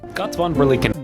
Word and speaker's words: Götz von Berlichingen: Alright, this is the story of Götz von Berlichingen. Götz von Berlichingen.